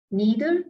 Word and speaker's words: neither: Neither or nor, either or. We can pronounce it like neither or nor, either or. Both the pronunciation are correct.